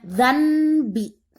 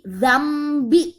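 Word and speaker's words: ذنب: Bidzambi, dzambi, hukum bacanya iklab, berarti kalian harus hilangkan bunyi n dan rubah menjadi bunyi M. Jadi bukannya dzanbi, tapi dzambi.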